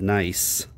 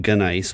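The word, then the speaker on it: gneiss: beginning g-n-e-i-s-s it's pronounced nice there's a silent g at the front of it it looks like gun ice but it's nice okay it's made from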